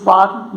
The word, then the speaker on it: warm: So here you just don't read why I had read this warm. No, this should not be warm. Here R is not pronounced.